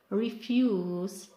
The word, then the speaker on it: refuse: So the first syllable for nouns is longer, and for verbs is the second syllable, which is longer and louder. The last word is refuse, and for verb is to refuse.